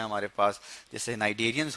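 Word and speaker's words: Cnidarian: एन नाइटे ठीक है सी जो है वो इसमें साइलेंट है तो नाइजेरिया हो गए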